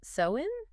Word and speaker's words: Samhain: It's generally pronounced Samhain? Samhain.